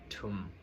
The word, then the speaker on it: thum: So the word tum is written as THUM. So in Zomi language, TH is pronounced as a true T.